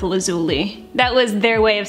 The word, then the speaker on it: Lazuli: then they said well I guess it depends on your accent but let's go with lazuli that was their way